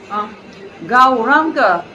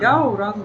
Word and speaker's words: Gauranga: Gauranga, this is, it says this is 4 syllables, but Ao, this is 1 syllable. Yeah, in Bengal and Sanskrit also this is 1 syllable Ao.